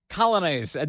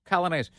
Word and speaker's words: Coglianese: Coglianese.